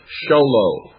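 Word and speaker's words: Show Low: Sholo, that's spelled Showlow, Sholo, Arizona, 85901.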